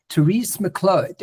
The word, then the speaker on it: Therese Miclot: Please welcome to the show, Therese Miclot. Am I saying it right, Therese? You are. You've got the French. Yes, it's like Merlot.